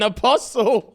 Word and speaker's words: apostle: Journey took me out she pronounced the tea in Apostle apostle how many people